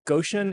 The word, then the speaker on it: Goshen: energy technology and public policy a native of Goan Indiana am I pronouncing that right I didn't say I said elart earlier and you corrected me so I'm make that's exactly right Goan Indiana and self-described failed violinist uh he graduated